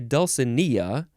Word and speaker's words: Dulcinea: the dulcimer sounds sweet dulcinea uh dwell you could say dulcinia or dulcinia you can emphasize that